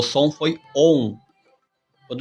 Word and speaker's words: Om: Então, o A, o U e o M. A, U e M, que se pronuncia ON. Porque quando elas estão juntas, o som é o ON.